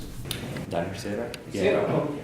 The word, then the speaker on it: Danish Sara: How do you pronounce it? Danish Sara?